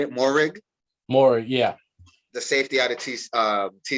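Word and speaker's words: Moehrig: Morig, yeah.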